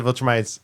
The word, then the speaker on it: Viltrumites: Like I said, I love that the Viltrumites. Did I say it right? Yeah. He said it. Thank you. Yes. Ding ding ding. I love that the Viltrumites are kind of popping up and their story is expanding.